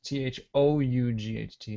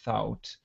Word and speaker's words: thought: And sometimes I hear people say thout or kout, but we don't pronounce that U. It still has this ah sound, so it's still thought and caught, like ah, very vowel sound.